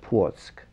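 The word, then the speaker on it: Płock: was born in poland in a city of portsk and could you spell that for us it's p-l-o-c-k okay thank you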